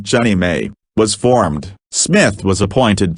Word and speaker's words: JNMA: They sanctioned the proposal, and the non-profit Jefferson National Expansion Memorial Association, JNMA, pronounced Jenny May, was formed.